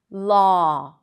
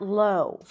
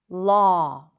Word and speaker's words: law: But actually there is no w sound. It just represents the exact same sound. Law, not low. Law.